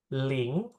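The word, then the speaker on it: 零: Ling, 0 itu bacanya ling ya.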